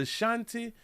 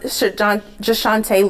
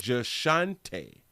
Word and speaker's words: Jashante: Her name is the Shanti. I think her name is the Shante. Jante. Hold on. Let's see. In Orange Mound, Shant Jashante Lewis is Jashante.